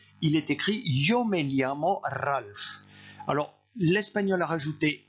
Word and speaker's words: me llamo: Ensuite, me llamo. Ici, vous prononcez comme s'il y avait un L suivi d'un I.